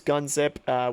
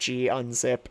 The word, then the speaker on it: gunzip: So we're going to use gunzip, which will basically, or gunzip if you like to pronounce it that way.